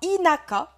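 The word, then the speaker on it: 田舎: Bon, lui, voilà, retenez que ces deux kanji-là, l'un à côté de l'autre, ça se prononcera inaka et ça voudra dire la campagne.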